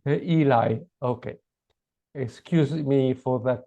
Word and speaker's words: Elie: you mark directly or you prefer Mr Ellie no it's fine and my surname is pronounced Eli oh sorry that's okay that's okay lots of people get get the pronunciation wrong but it's pronounced Eli Eli I'm pronouncing the French uh pronunciation